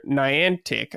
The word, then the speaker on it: Niantic: an AR project with the Pokemon Go creator Niantic. I think is that how you say it? Niantic. I think that's how you say that company's name. I think it's Niantic.